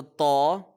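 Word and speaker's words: ط: So Taw is a heavy letter, Ta is a light letter.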